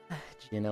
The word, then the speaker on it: Jyn: But I was thinking of the the hard G sound in that and then I said it wrong and I immediately was like that's not how you say that word. Oh well Jin weed boy.